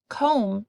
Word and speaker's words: comb: T in the middle comb has a silent B at the end and Wren has a